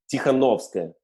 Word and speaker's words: Tikhanovskaya: How do you pronounce her last name? Tikhanovskaya. Tikhanovskaya. Tikhanovskaya.